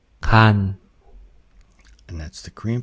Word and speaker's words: 간: you can hear that the Korean initial ga sound is much harder than what we might expect if we just read it as like the G in English.